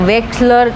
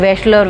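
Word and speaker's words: Wechsler: बात हम आगे करेंगे फिर वेलर वेक्सलर और वेलर ऐसे कुछ भी बोल सकते हैं इसका स्पेलिंग है डब् ई सी एच एस ए ई आर तो हम उसको गुजराती में तो इसको वेक्स बोलेंगे बट हिंदी में क्या बोलते हैं बसलर बसलर कुछ भी हम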